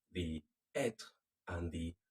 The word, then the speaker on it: être: Être and avoir. Can you say them again? Être, like r at the end, être, avoir, avoir.